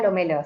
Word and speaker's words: Lomello: Espérame, la pronuncié bien, ¿cierto? ¿El apellido? Sí, Lomelo, sí, está bien. Lomelo, perfecto. Lomelo.